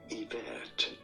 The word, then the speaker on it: Yvette: Yvette. You don't want to stress on that second vet syllable.